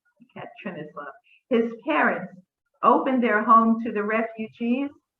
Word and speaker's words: Yekaterinoslav: his family lived in, Yekaterinoslav, I think is how you pronounce it, Yekaterinoslav.